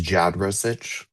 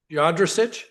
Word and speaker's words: Jadrasich: Is pronounced Jadrasich. Jadrasich. Yes.